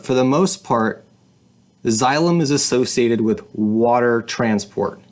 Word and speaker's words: xylem: vascular system are called xylem the X Y is pronounced like a or the x is pronounced like a z xylem and phloem xylem and phloem so let's